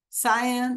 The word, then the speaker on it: cyan: over again so miss Dela your is it pronounced Sayan cyan yeah okay with the squigglies says you long